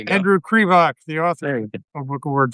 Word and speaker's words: Krivak: And uh Andrew, I'm going to mispronounce it again. Kvach Crevoc first syllable. Cre. There you go. Andrew Crevok, the author, a book award finalist joins us now.